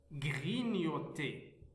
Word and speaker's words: grignoter: Alors le premier mot, nous avons grignoter, grignoter. Alors, grignoter, on a ici la première syllabe, gris, la deuxième syllabe, nio, troisième syllabe, t, grignoter. La lettre G plus N, on les prononce ni, grignoter.